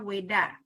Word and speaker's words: Veda: Hindu yaitu veda ya tulisannya veda tapi dibacanya Weda terdiri dari Weda sama